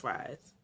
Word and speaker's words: Fries: to um victor fries that's how his name is pronounced fries and we discovered that